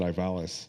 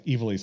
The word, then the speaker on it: Ivalice: of ease because I always called I always pronounced it Ivalis.